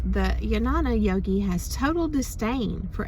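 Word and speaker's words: Jnana: G is like a y so it's like yanana which is really pretty right so um yes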